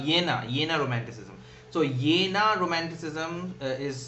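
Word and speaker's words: Jena: in a romanticism so yena romanticism is spelled as j-e-n-a and the pronunciation is yena and yenna is the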